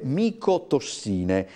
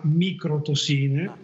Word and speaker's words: micotossine: con il dottor paleologo parliamo delle micotossine se la mia conoscenza dicono neanche la significante fungo infatti per fortuna diciamo voi l'avete pronunciato correttamente qualche volta alla stampa alle chiama micro tossine che potrebbe a capire